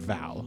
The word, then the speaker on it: Val: one of them is named Val I know that oh uh interesting name uh has only one syllable like share yes unlike mine or yours